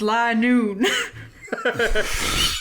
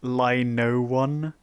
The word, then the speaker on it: Linoone: brand line shiny it's li noon nice and specs it's pronounced lie no one we're talking about linuni